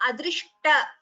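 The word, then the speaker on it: अदृष्ट: So adrishta, dr, and this is sha and ta. Please pronounce that letter carefully.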